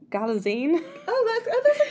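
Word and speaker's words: Galitzine: I've actually learned how to say it because Anne Hathaway was saying it's like magazine. So it's Galazine.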